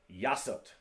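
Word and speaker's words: 여섯: all right next one number six yasut same as that just change the t to a y yasa ilgop as you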